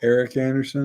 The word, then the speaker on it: Erich Anderson: Hopefully we get a nice tribute to, how do you say it? Erich Anderson? Eric Anderson is how I pronounce it.